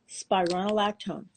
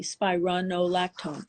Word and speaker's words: spironolactone: it's been around like 60 years it's called spironolactone I'm going to spell it for everybody s is and Sam p is and Peter i r o n o l a c t o n e spironolactone okay that's a diuretic that's really not even